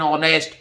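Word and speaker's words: honest: है भाई जैसे देखिए ऑनेस्ट ऑनेस्ट से पहले चाहे एच से शुरू हो रहा है क्या आएगा एन आएगा एन ऑनेस्ट क्योंकि उच्चारण स्वर जैसा है आवर एन आवर एच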